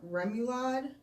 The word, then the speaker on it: remoulade: But she's having Judy's Shrimps and Grits, steak quesadilla, fried green tomatoes with Cajun remoulade.